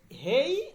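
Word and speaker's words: ہیں: এইটার উচ্চারণটা হে তো ঠিক আছে, হে, এই যে হেই দিয়ে মনে করেন হেইন বললেন আপনারা, কিন্তু এই নটা উচ্চারণ হবে না, এই নটা নাকের মধ্যে লুকায়িত থাকবে, উচ্চারণটা হবে এই রকম, ঠিক আছে, হেই হেই, ঠিক আছে।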